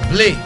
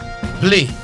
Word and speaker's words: Blé: Blé. B L E pronounced as A. Blé.